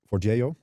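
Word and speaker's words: Forgejo: For that I use for Jio. That is apparently the right pronunciation of it.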